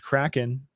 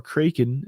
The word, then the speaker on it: Kraken: realist xrp rival exchange Kraken or Kraken as they incorrectly pronounce it if you pronounce that way made a similar announcement